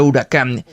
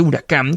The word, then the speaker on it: Huracán: En la alfombrilla, el acento está en la segunda y cuando se encienden las pantallas del sistema multimedia, también aparece huracán con el acento en la segunda.